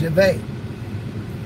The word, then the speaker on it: Yahweh: He says, Yahweh.